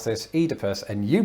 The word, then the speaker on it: Oedipus: one's going to give me a slight complex adi puss i don't know i don't know this word one moment oh my god oedipus but i as you heard there pronounce this oedipus and you pronounce it oedipus what because just